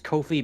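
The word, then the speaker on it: Ko-fi: now YouTube and Kofi it's Kofi because it rhymes with no feed I remember now I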